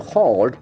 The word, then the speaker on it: halt: So the pronunciation is very important. Halt. Halt. The letter is A, but the sound is O.